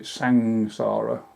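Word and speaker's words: saṃsāra: You've heard the word like samsara, and in fact they pronounce it sangsara, so the M becomes NG, and Bhikkhu Bodhi does go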